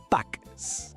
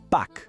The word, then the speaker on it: Pâques: En français, on dit « Pâques ». Un détail très important : on ne prononce pas le « s » final, d'accord ? Il est muet. Alors, la prononciation est simplement « pack ».